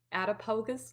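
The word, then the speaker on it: Attapulgus: And I guarantee you, you may not even know where this is, but it's pronounced Attapogus, Georgia. And it's at that time, I believe it was about 800 people.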